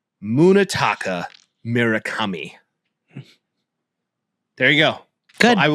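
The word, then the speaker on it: Munetaka Murakami: But all right, I will pronounce it for all of the Twitter world, Tik Tok world, and Instagram world. Right. Munitaka Miraami.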